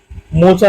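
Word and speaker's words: Mocha: मोचा नाम Yemen द्वारा दिया गया है, जिसका उच्चारण मोखा के रूप में किया जाता है।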